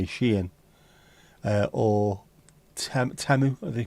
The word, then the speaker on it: Shein: If it's Shein, not Sheen by the way, Shein, or Temu, I think they pronounce it, Temu, it might take a while to arrive.